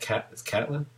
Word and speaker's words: Catelyn: Is it Catelyn or Caitlin? Did I just mispronounce it? Is it Catelyn? Caitlin. I say Catelyn, but okay. I'm not gonna. You're not gonna be crucified by me if we you say Caitlin.